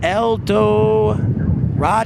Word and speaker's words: El Dorado: Michael Martin says, pronounced El Dorado.